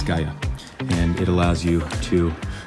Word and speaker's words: Gaia: The app is called Gaia, not like UI. Look at how it's spelled right here. Doop. It's Gaia, and it allows you